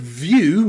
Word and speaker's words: view: Think of words like view, view. In the word view, where you've got V-I-E-W, we pronounce that view, you.